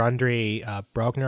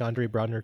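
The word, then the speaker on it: Andre Braugher: Even the actor Andre Brogner, I believe is how you pronounce his name.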